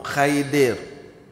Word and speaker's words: Khidir: Orang Melayu kita panggil Khidir ataupun Khidir. Dia sebenarnya pronunciation, sebutan yang tepat Khidir.